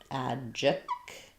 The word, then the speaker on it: adjective: We have the adjective. Adjective. Yeah, because we have the kt blend there, we do say that true T, so it doesn't get flapped or unreleased. So think about it like adjective.